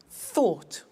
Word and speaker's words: thought: Think, thought.